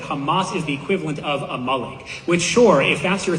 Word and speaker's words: Amalek: It's not Amalik. It's a malik.